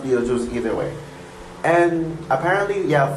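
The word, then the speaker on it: Betelgeuse: e u s e it is spelled that way but it's actually called Beetle Juice it's pronounced Beetle Juice either way and apparently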